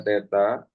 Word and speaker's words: theta: Nanti ini dibacanya theta, dibaca theta.